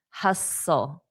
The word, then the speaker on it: hustle: Now, notice the T is silent. Hustle.